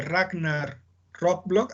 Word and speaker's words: Ragnar Lothbrok: Uno de los hijos de Ragnar Lothbrok, así se pronuncia, Nancy.